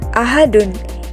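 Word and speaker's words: أحد: berada di akhir ayat maka kita membacanya menjadi Ahad dengan pantulan huruf dalnya yang cukup diberatkan karena apa Karena ia termasuk kepada hukum bacaan Qalqalah kubra Begitu juga dengan alfalaq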